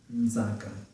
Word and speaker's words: Nzaka: If you're having trouble pronouncing that name, remember that we always pronounce the J as Z, like D and C, and then you put the N before it, and there you have Z, Nzaka.